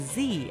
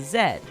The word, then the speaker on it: Z: the united states is the only english-speaking country that pronounces z as z as opposed to zed like the british now you can tell